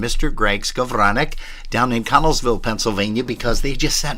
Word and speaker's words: Connellsville: It's not Connellsville. It's Connellsville. There's L's in there.